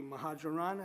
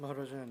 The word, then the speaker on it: Maharajan: Okay, so I see this is for the Mahajaran, I believe, that's how you pronounce it? Maharajan, yep.